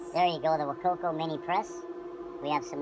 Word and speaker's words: Wacaco: That's the Wakokco Mini Press. There you go. The Wakoko Mini Press.